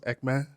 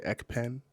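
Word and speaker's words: Ekpne: name is called what again ecme so it's pronounced ecme uhuh but you know you guys say ecen okay yeah e k p n e yeah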